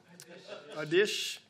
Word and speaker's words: Oddish: Odish. Comment ça s'écrit, Odish?